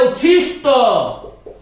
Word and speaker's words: उच्छिष्ट: अनुटिसेक्स इसी प्रकार से एक शब्द है उच्छिष्ट उष्ट ट अब ये ट और ठ वाला उच्चारण यदि हमारा ठीक होगा तो हम इसको शुद्ध करेंगे उच्चारण भ्रष्ट होने के